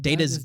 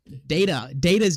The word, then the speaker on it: Data: Data's Day. Data's Day.